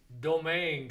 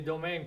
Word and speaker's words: Domingue: Mais domaine, c'est pas un nom français. Non, domaine, c'est une prononciation française d'un nom espagnol, Oui. qui oui. était autrefois Dominguez. Dominguez.